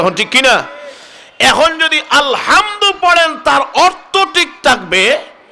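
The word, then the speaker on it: الحمد: আলহামদু, এটাকে বলে হায় হুক্তি, অর্থাৎ বড় হা। এখন এই হা যদি তার সঠিক মাখরাজ থেকে, সঠিক জায়গা থেকে উচ্চারণ না করেন, তাহলে তো আলহামদু হবে হায় হাওয়াজ, ছোট্ট হা। বুঝেননি আপনারা? ছোট্ট হা যদি পড়েন তাহলে নামাজ হবে নি।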